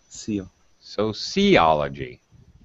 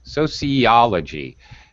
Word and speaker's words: sociology: you got tricked okay what uh syllable is stressed here so see see sociology do you think see sociology well actually it's it's this one sociology if you remember you probably don't l-o-g-y logy and gruffy moves the syllable stress to one position in front of the suffix um okay same with